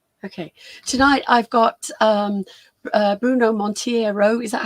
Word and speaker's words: Monteiro: Tonight I've got Bruno Monteiro. Is that how you say it, Bruno Monteiro?